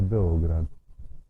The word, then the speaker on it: Beograd: signifie la Ville Blanche La prononciation serbe est Beograd Belgrade est la 3ème